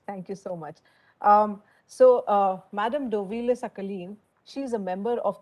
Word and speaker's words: Dovilė Šakalienė: Actually, my name is Dovilė Šakalienė, but I understand it's really unusual.